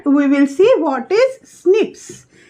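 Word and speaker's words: SNPs: will see what is snips s n p s pronounced as snips first repetitive dna this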